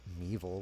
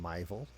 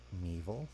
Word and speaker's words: Meeville: to inform me that my pronunciation of Meeville was incorrect. During my last broadcast, I was saying Myville. Apparently it's Meeville.